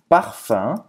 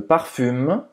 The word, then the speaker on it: parfum: Je me parfume. Je mets, eu coloco, parfume. Je mets du parfum. Parfum, c'est escrever parfume, mas se pronuncia parfum. Parfum, bem nasal.